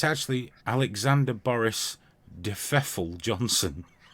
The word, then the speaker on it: Pfeffel: Well, it's actually Alexander Boris de Pfeffel Johnson. And Pfeffel has a silent P.